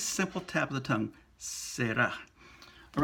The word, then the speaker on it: será: Well, we put an accent on the end to pull the stress out to the end, será. But it's a single R, so you're not going to say será. That would sound funky in Spanish.